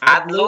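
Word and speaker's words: العدل: দুই বইয়ে দুই রকম, আদলু আর একটা আদালু। হুম আদলু দুটো শব্দের অর্থ কি একই? একই, আদলুন অর্থ ইনসাফ, হ্যাঁ আল আদলু, আদলু বেশিরভাগ ক্ষেত্রেই মানে আদলুটাই বলা হয়, আদালু সাধারণত বলা হয় না।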